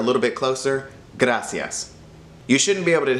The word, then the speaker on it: gracias: So slowly transition from gutta to gra. Then all you have to do is add cias at the end. Gracias. Smush it together a little bit closer. Gracias.